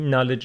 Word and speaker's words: knowledge: and we said that K before n is not pronounced KN knowledge no ankle uncle and